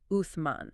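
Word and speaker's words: Uthman: Turkey today, is that his name was Osman. Osman, which is the Turkish pronunciation of the Arabic name Uman.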